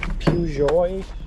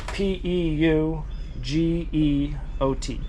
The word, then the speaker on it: Peugeot: These are those Peugeot. However you pronounce it. They're French, right? P E U G E O T.